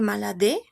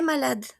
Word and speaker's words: malade: Si se dan cuenta aquí yo no pronuncio mi e porque no tiene til diferencia de los demás. Il est maladé. No, il est malade.